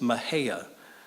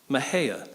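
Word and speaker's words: Mexia: being a great destination no matter how you pronounce it but you pronounce it Mejia almost like a greeting called out from the street Mejia Levi they visit a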